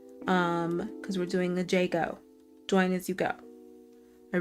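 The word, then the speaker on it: Jai: is my middle name. A I. And you pronounce it.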